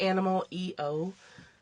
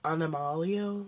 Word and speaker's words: Animal EO: brand is a animal it looks like animal EO but she pronounces it anomalo like animal likes it in Spanish or I think she took it from when she lived in Spain she's doing amazing work